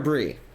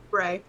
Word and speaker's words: Bray: Uh I've been pronouncing it Bray. Is it Bray or Bri? Bray.